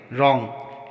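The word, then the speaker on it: wrong: रॉन्ग, यहाँ पर भी डब्ल्यू के बाद आर आया है तो यहाँ पर डब्ल्यू का उच्चारण नहीं होगा, इसको रॉन्ग पढ़ेंगे।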